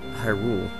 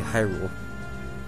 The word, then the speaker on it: Hyrule: opposite of hello goodbye goodbye it's accented on good goodbye so as this shown being one word i'm pretty sure it's supposed to be hyrule but i'm i'm all